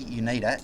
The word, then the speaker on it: Unida: Now, I got the pronunciation right finally, Unida.